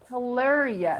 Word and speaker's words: hilarious: or something else so that's h L yes hilarious hilarious hilarious and for sure this is is